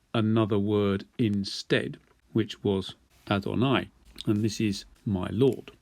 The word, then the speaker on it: Adonai: And it's from this word that we get the made-up word Jehovah. But it's actually not meant to be pronounced like that. It's meant to be pronounced like this, Adonai.